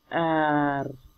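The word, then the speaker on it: är: लेकिन जब स्वीडिश में इसे प्रोनाउंस करेंगे तो वो कुछ जो वर्ड्स हैं साइलेंस कर देते हैं, जैसे वो योग को या, आर को ए, यो एफ्रॉन मालमो, ठीक है।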